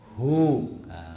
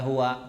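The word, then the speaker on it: هو: Allahu La ilaha illa huu bukan Wa gitu ya jadi jangan dibaca kalau waqaf buahnya Allahu La ilaha illa huwa salah kalau wakaf kita bacanya hu Allahu La Ilaha Illallah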